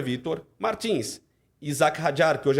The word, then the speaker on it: Martins: um piloto de Fórmula 2 que é o Vitor Martins. O francês fala Martin, mas é muito arrogante falar Martin quando um sobrenome tão conhecido é Martins. Então é Vitor Martins.